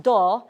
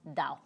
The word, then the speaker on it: 道: party okay so this this logogram pronounced do guess what all of them pronounce it the same way OK and Japanese and Korean in Chinese it's pronounced da da by itself is often